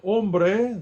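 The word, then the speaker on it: hombre: of the words here ombre the H in Spanish is silent let me see what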